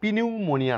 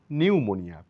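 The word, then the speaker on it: pneumonia: পূর্বে পি silent যেমন এটা পি নিউমোনিয়া নয় নিউমোনিয়া পি এর কোন এখানে সাউন্ড নেই নিউমোনিয়া ফুসফুস প্রদাহ বা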